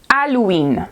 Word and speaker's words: Halloween: but it sounds like Halloween so the H is silent we don't do the sound okay so it's okay